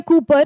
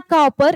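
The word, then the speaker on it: Cowper: उसके राइटर हैं William कूपर। इट्स नॉट कॉपर, इट्स कूपर, वो कूपर प्रोनाउंस किया जाता है, विलियम कूपर।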